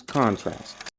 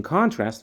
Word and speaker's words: contrast: the similarities however in contrast we focus on the differences so comparison for similarities contrast for differences one pronunciation Point as a verb contrast as a noun contrast contrast contrast now let's